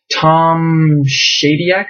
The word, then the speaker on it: Tom Shadyac: uh let's see here Tom shadec I think is how it's pronounced filmmaker guy who did